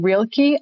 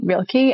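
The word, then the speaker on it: Rilke: never know how to say the poet's name real key r-i-l-k-e real key and um gosh maybe i'll share it share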